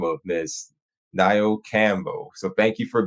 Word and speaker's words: Nayo: give you heads up so my name is pronounced like Cinco de Mayo so it's ni thank you ni my